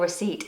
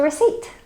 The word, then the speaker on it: receipt: Now, receipt has the letter P in it, but this is a silent letter. We say receipt, receipt. So don't forget your receipt, especially if you're buying an expensive item or an electrical item.